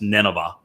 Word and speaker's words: Nineveh: open plane near the ancient uh Ninotha uh which was which we would pronounce Nineveh, not far from Mosul